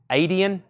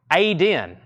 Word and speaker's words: Aiden: up your name that Adian Aiden Aiden sorry Aiden fifteen dollars if I'm still not pronouncing that you might want to give me the phonics Aiden I'm putting another extra syllable in there Aiden I can see